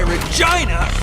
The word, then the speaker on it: Regina: That's why Regina rhymes with fun.